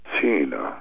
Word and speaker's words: Tina: Say it with a soft T. Tina.